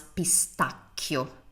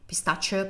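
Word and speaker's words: pistacchio: Notice that we pronounce pistachio pistachio pistachio because h makes sounds hard always in Italian and I have a video on that.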